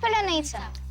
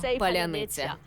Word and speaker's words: паляниця: паляниця означає кругла хлібина у російській і українській мовах різна фонологія різ звукові системи це як різниця між французькою і італійською вони не можуть це правильно вимовити тож це стало шиболетом